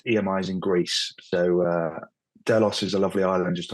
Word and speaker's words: Delos: today I have Alex Michael cbdo at Doos delos financial help I'm pronouncing it correctly Alex nice to have you here thanks very much H uh yeah is delos um there is a small story behind that